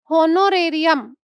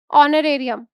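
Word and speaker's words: honorarium: भोलेभाले होनोरेरियम S. Actually इसमें H silent होता है। इसको बोला जाता है ऑनरेरियम। ऑनरेरियम वर्ड है एच साइलेंट है। इसमें एच को नहीं बोला जाता ऑनरेरियम।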